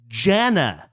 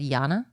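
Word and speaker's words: Jana: It's pronounced Janna. I found it funny that if it was with a J, but you assumed it was Hispanic, so you said Yana?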